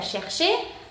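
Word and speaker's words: cherchez: ¿Por qué se pronuncia chercher? Porque CH quedamos que es sh, no es ch, sino que es sh, que es cher, y después che, porque tenemos EZ, una terminación en EZ se pronuncia E.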